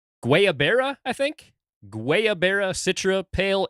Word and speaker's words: guayabera: Guayabera Citra Pale Ale, maybe Guayabera, something like that. I think you were right with the first one, Guyaberas. I actually downloaded a YouTube video earlier to actually hear how it is pronounced.